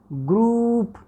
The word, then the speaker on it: group: ग्रुप, यहाँ पर थोड़ा सा ये भी करेक्शन कर लें, नॉट ग्रुप. हम ये वाली पिछली वाली ये वाली साउंड प्रोनाउंस करते हैं ग्रुप, but actual pronunciation of this word is ग्रुप. This is longer.